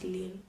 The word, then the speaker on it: Lille: to in so-called Lille live there like it's pronounced leelu the other one passed there and we also